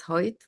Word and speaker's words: Hoyt: It's pronounced Hoyt.